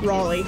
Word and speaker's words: Raleigh: Riley unless there's no frog rally I think Raleigh yeah you're right raleigh but it's spelled really weird yeah raliegh it's like our